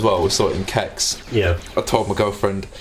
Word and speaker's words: CeX: Because we were in Kex or CEX or Sex, as it's pronounced in the advert.